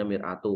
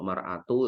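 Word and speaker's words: مرآة: itu cermin buat saudaranya ini kalau bacanya miratu kalau maratu ya berarti istri seorang muslim laki-laki istri dari saudaranya gitu ini gak pas kan Miru makanya bahasa Arab itu salah rokat itu artinya sudah berubah gu an Abi hurair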